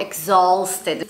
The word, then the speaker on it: exhausted: I'm knacked exhausted not exhausted we tend to use the you there yeah but this is a silent letter yeah exhausted exhausted exhausted yeah nice guys Simon thank